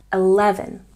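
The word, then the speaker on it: eleven: Stress on the second syllable. 11.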